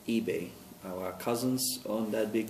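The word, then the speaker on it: Ibe: Last name is I-B-E, and that's pronounced eBay.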